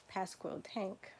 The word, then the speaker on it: Pasquotank: we're in now we ran past quote ank Pasquotank thank you alright so we're and never end